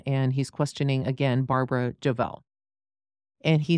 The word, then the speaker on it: Jovell: Is it Jovell? Yes. J-O-V-E-L-L. I am pronouncing it right, then?